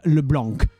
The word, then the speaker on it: LeBlanc: And yes, the first time I heard stuff about League and they said LeBlanc, I couldn't. I actually burst out laughing because it sounded so ridiculous to me. Because the C is silent.